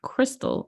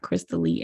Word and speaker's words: Crystally: I butchered your name I called you Crystal and not crystally and I apologize no